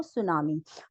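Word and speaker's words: tsunami: चीजें होती वो सुनामी सुनामी जो है वो एक जैपनीज वर्ड से बना है इसमें भी यही चीज हुआ कि प्रोनाउंस एशन जापानीज से जब इंग्लिश में हुआ तो प्रोनाउंस एशन तो चेंज हो गई लेकिन स्पेलिंग जो है उनकी सेम ही रही हमने टी को हटाया नहीं तो इसी तरह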